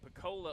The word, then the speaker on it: Pocola: I gotta pronounce that right. Pocola, Oklahoma, September 19th and 20th.